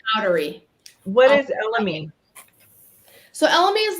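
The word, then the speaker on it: elemi: the world has moved G so black pepper elmi is elmy how we how how do we pronounce that it's elmy elmy Ginger incense Amber tonka bean smoked Papyrus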